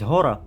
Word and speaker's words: Гор: вона же наша єресь гора так як по-українськи вона правильно читається як гор надіємося що будуть ще